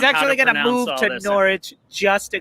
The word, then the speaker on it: Norwich: of the wolves uh norwich did you see any of it and karen don't don't bother telling mark the the silent w no i don't know who doesn't norwich i don't i don't